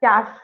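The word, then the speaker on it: cache: this one okay okay you have to pronounce it as cash memory cash memory yeah exactly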